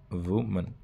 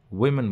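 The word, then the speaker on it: women: है स्पेलिंग में और इसको वमन बोला जाता है ओके वमन इट इज वमन डब्लू ओ एम ए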